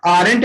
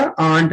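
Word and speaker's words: aunt: Very cute आंट यू, तो यहाँ पे आरंट नहीं बोला जाता, आंट बोला जाता है। ठीक है, आर साइलेंट होता है, ठीक है ना, यू are very cute आर्ट।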